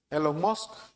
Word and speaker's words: Elon Musk: Elon Musk, así se pronuncia.